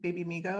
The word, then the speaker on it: Babymigo: your your website your your brand uh baby baby Amigo I think it's called I don't know if I'm pronouncing it right yes yes so just tell